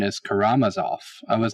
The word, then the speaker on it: Karamazov: devil whom yvonne karamazov that's actually the correct pronunciation is karamazov i was not aware of that but it